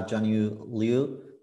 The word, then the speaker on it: Junyu Liu: introducing so today we are happy to have jnu Leu am I pronouncing correctly actually yes yes it's it's perfect